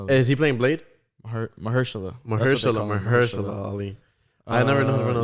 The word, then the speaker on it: Mahershala: Like the name or Mashallah Ali? Yeah, Mashallah Ali. Yeah, right. I promise. Yeah, that's him. I don't know how to pronounce his first name. Yeah, Mashallah Ali. Is he playing Blade? Mahershala.